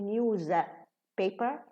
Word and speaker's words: newspaper: That's why when news is just by itself, it's news, pronounced with a za. But if it's combined with the word paper, so we reduce the za and becomes sa. So it's newspaper. It's not a news paper, a newspaper.